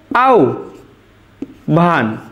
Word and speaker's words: আহ্বান: দেখো হয় বয় যদি থাকে তাহলে আমাদের লিখতে হয় ও ভ এমন, তাহলে দেখো আমাদের আহ্বান উচ্চারণটা কেমন হবে? আউ ভান, এটাই আমাদের শুদ্ধ উচ্চারণ, দেখো আউ ভান,